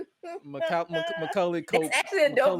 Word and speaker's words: Macaulay: I could not pronounce his name to save my life. I was about to call him Makoka, like Makoka. I'm about to say Makoke, but I'm like, let me get you to pronounce it. Macaulay Culkin.